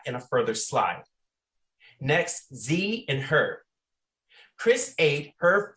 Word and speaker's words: ze: Next, Z and her. Chris ate her food because Z was hungry. Z is pronounced like Z.